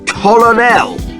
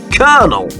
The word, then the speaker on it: colonel: This word isn't pronounced colonel. It's pronounced kernel.